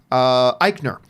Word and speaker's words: Eichner: who I love, and Billy, how do you pronounce his name? Eichner.